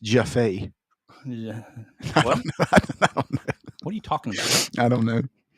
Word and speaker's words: Jaffe: All right, so we covered this last podcast, but it's pronounced Jaffe.